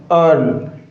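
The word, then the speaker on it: earl: इसका जो र है यानी कि जो आर है और हिंदी के अंदर र का क्या होगा साथियों? ध्वनि नहीं आएगी। यानी कि ये यहां पर क्या होगा? साइलेंट होगा। क्या होगा साथियों? साइलेंट। ये क्या होता है साथियों? नॉन रोटिक साउंड होती है। ब्रिटिश एसेंट के अंदर ऐसा चलता है।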